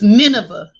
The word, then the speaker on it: Nineveh: can't hear the sound y'all on how to pronounce this okay okay so it's nineveh i'm sister naomi why don't you take so